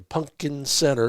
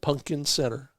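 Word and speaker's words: Punkin Center: at stretch from the town of globe to Pumpkin Center and that's how it's spelled p u n k i n Pumpkin Center it's a real place east of Tucson well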